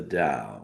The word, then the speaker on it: Dao: You know, when we're embracing the study of the Dao, all right, pronounced da o da but spelled tao, which basically means the